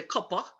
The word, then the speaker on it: Cooper: from charleston side you cross the cooper river some locals say cuppa and go through mount